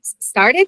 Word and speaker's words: started: There there are other like started say started. Same case. The last sound is a e. So we add an extra it the extra syllable.